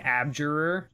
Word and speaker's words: abjurer: god of jabyr what uh how do you spell that absurd it's she's saying abjurer a b j u r e r i